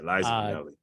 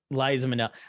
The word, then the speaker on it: Liza Minnelli: Yeah, Liza Minnelli. Liza Minnelli.